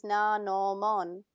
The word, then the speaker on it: Nanomon: Or wait, you say it Nano? Well, that's how they say it in Japanese. Nanomon.